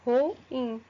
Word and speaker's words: ruim: como ruim né e a palavra ruim nós pronuncia ruim porque não Professora porque ruim é um hiato hiato se separa então a pronúncia correta de ruim é dessa forma ruim tá certo então eu